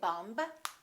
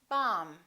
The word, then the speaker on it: bomb: example don't know that the be in silent in the word bomb we don't say bum we say bomb let's review some very